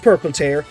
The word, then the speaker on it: Purple Tear: We don't call Roland Lowland, so I call Tear Tear. And also she's called Tear because she literally tears through space and time. And that's a lot more badass than having a tear on your symbol. So I'm putting this debate to rest right now. It's all there, black and white, clear as crystal. It's pronounced Purple Tear.